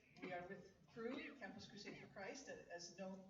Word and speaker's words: Cru: As Pastor said, we are with Cru, Campus Crusade for Christ, as now known as Cru in the U.S. So that's a lot simpler to say, just one syllable, Cru.